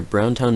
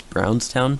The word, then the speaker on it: Brownstown: where a skirmish near brown town michigan took place i was just listening to it back and i just realized how horribly i pronounce the city name it's brownstown not brown town so yeah um i